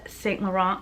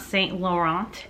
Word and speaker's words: Saint Laurent: There's a video on how to pronounce Saint Laurent because apparently it's not Saint Laurent, it's Saint Laurent or something like that.